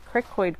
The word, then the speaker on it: cricoid: the cricoid cartilage let me make sure I'm pronouncing that right Crick Boyd yeah cricoid cartilage a ring shaped structure forms the lower